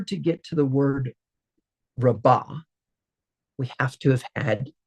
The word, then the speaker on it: Rabbah: second to last syllable, it most likely will be hard as well, which means Rabbah, not Rava, is how you would pronounce that word.